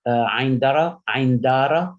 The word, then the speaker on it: Ain Dara: In fact, this place, Ain Dara, that's how it's pronounced, which is north of Syria.